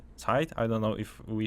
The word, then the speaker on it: Zeit: I don't know if we should the name, pronounce the like it's a German word, but I would go with that.